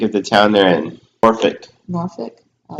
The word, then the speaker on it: Norfolk: Norfolk. Norfolk. Oh. It's spelled Norfolk. I used to say Norfolk, but my friend is from Virginia, Corey, and it's pronounced Norfolk.